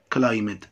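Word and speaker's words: climb: مضارع لماضي كلايم تسلق كلايمت تسلق هنا اي دي طبعا هنا البي لا تنطق اقول كلايم تبقى كلايمت سيف يعني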